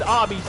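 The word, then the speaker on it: Ami: I think she calls herself Amy, but I think it's pronounced Army. But considering it's the Japanese pronunciation of Amy, though.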